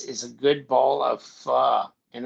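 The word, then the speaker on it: phở: but why is it PHO? It sounds like pho." She's like, "No, Mhm. there's an accent on the top of the O, so it's pronounced pho."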